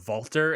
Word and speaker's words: Walter: give it the pronuncia the german pronunciation of vaulter and it's much more